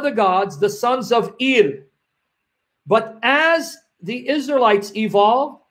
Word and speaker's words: El: the chief god was El, E-L, let me spell it here, E-L, El, it's L, but I say E-L because I don't want it to sound like the letter L, and that originally they